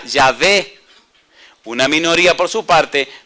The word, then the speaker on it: Yahvé: La mayoría de los eruditos hebreos opinan que la pronunciación de las consonantes Y, H, W, H era Yahvé.